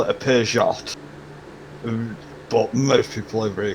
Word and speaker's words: Peugeot: Oh, you got a Peugeot. Is that how you pronounce it? It's Peugeot. A lot of people call it a Peugeot, but most people over here call it a Peugeot.